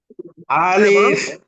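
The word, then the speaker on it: ألف: আলিফ বা তা থেকে শিখবো কোথায় থেকে শিখবো আলিফ বা তা ইনশাল্লাহ।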